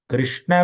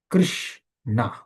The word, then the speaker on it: Krishna: Krishna, there are two syllables. In Sanskrit, a syllable is called Varna, right? So Krishna Varnam refers to the two syllables Krish and Na.